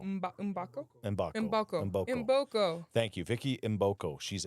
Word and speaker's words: Mboko: Vicky, pronounce her last name for me. Mbako? Mbako. Mbako? Mbako. Mboko.